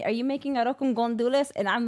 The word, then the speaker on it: gandules: Because it's not gondules. Gondules. You're saying it wrong. I know it's ajo con gandules.